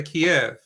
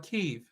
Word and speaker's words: Kyiv: drives me crazy is how people pronounce Kyiv. You know Kyiv? Mm-mm. No. No. Capital of Ukraine. Oh, okay, yeah. Kyiv. How do they pronounce it? Well, they say Kiev.